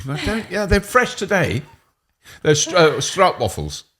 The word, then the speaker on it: stroopwafel: They're strout waffles. How do you say them? Stroopwafel.